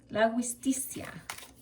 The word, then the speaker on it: La Giustizia: La Giustizia.